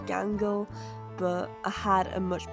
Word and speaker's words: Gangle: I get it could have been with Mangle because it rhymes with Gangal, but I had a much better idea for Mangle.